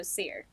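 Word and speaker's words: Seere: you spell that yes so there's two different forms it's s-e-e-r-s-e-e-r-e so seer okay kind of like a theater sears of greek mythology but it's seer is his name okay and can you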